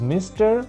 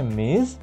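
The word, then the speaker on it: Ms.: মিস does not tell you ইফ A women is married or নট, অর্থাৎ এই এম এস ডট এর উচ্চারণ হচ্ছে মিস, এটা আমরা সবার নামের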